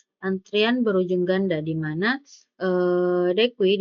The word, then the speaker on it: deque: Nah, selanjutnya ada antrian berujung ganda, di mana dekui diucapkan dek, atau antrian berujung ganda adalah struktur data mirip antrian yang mendukung penyisipan dan penghapusan di bagian depan dan belakang antrian.